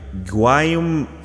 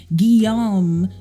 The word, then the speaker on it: Guillaume: This series is created by Guam. It's pronounced Guillaume, you peasant.